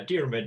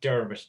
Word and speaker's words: Diarmuid: Diarmuid is actually a better pronunciation, and it's not Dermot. Dermot is a very different name. A lot of people, Irish people, even call me Dermot, and they're two completely different names.